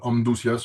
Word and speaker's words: Amduscias: Amdas, on prononce à la Ouais, je te prononce à la latine entre guillemets, vous savez.